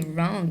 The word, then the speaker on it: wrong: W, we will not pronounce it, and we will pronounce the R.